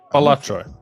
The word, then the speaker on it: Balatro: got to tell Paris Paris am I am I really pronouncing Ballo wrong no balatro balatro batro you know it's batro